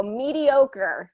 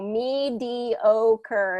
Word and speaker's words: mediocre: in there because mediocrity mediocre has a long o meter mediocrity changes that